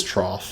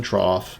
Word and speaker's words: trough: Fanatics confuse me but it is trough if I recall it's not TR it's feeding trough my bad I probably ruin the dramatic suspense for people that actually know how that's pronounced but it is the Fe the feeding trough and we do get